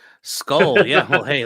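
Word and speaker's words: skål: Skull.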